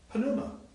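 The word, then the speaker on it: πνεῦμα: In Greek, remember, I try to say in the Greek, when you have a pi and a nu together, you actually pronounce it, you actually say the sound. You don't really say pneuma, you say pneuma.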